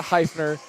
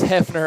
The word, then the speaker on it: Hefner: on maryville's name incorrectly despite the i it is not heifer it is hefner i've been told and